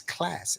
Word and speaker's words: Klazz: It's class. I know it's spelled Klazz, but it's class.